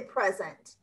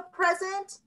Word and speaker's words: present: It sounds a little bit different. Instead of saying present, it's present. It's present and present.